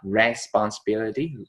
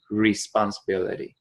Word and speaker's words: responsibility: Và okay, responsibility cũng phát âm từ not responsibility, responsibility, ability.